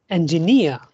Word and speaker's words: engineer: Engineer. Engineer. So here near is stressed, right?